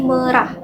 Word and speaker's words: merah: Nah, di kolom komentar dari channel YouTube Bang Indra Aziz juga, huruf E di kata merah itu bacanya nggak merah guys. Bacanya tuh kayak kata perah. Jadi pelafalannya tuh bukan merah, tapi merah.